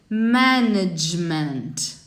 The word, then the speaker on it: management: Management. Management. Estão percebendo o sonzinho do d?